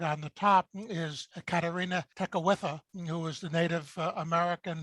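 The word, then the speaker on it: Kateri Tekakwitha: on the far right on the top is katarina tekawitha who was the native american who was martyred and has since been declared a saint can you pronounce that again i was amazed career tech with her exactly and as you can see there were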